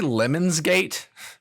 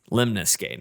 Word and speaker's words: Lemnis Gate: So did you say Lemons Gate? It's spelled ELEMNIS. MNIS. Man, is that how you would have said that? Lemons Gate? Lemnis Gate.